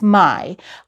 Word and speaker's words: Mai: I was pronouncing it May, but it's my um and she is another close friend in the town.